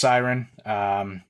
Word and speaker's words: Syron: really cool chat with another Canadian company called Syron Golf, spelt Syron, pronounced Syron.